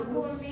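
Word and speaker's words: gourmet: चीज के लिए थोड़ा गोरमे चीज बोलते हैं, गोरमे। यही स्पेलिंग नहीं है, इसको Okay. प्रोनाउंस गोरमे करते हैं।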